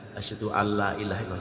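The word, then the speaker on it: أشهد أن لا إله إلا الله: Asyhadu alla panjang, antara la pertama dan la kedua adalah panjang la yang pertama. Saya contohkan. Asyhadu alla ilaha illallah.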